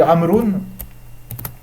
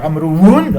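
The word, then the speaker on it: عمرو: Mais vous allez me dire, c'est pas ça, donc il faut dire Amroun, Amroun. Sachez que le waw dans Amroun, c'est un waw d'indication et qui ne se prononce en aucun cas.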